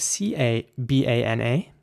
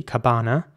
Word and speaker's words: cabana: It is spelled C-A-B-A-N-A, and in British English, it would be pronounced cabana, so the same principle as in banana, but, you know, basically with a C, cabana. And in American English, it's, you know, similar again, it's cabana.